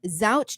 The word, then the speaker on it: Zausch: Please welcome Zouch to the podcast. welcome. And I hope I pronounced your last name right.